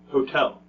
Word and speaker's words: hotel: how about this one hotel I stay in a hotel yeah which one is stressed in hotel Hotel if you said the second one that's great how about